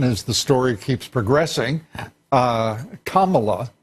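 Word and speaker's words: Kamala: the story keeps progressing comma law I'm told is the correct pronunciation for Senator Harris and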